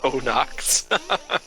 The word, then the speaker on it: Onox: Onyx or Onyx? Haha. I always thought it was Onyx. They just spelled it weird. So I was like, okay, it's either the Pokemon way to spell it or the color way to spell it. And they're like, nope, we're gonna do double O's. Onox. Onox. Yeah, it probably is.